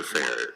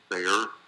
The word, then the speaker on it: Fehr: Fehr, am I saying it correctly? Fehr is correct.